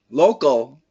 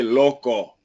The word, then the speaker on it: loco: Don't say local. I want you to say loco. Lo. What's that? Loco. Loco. Yeah, it's the same pronunciation. O and co.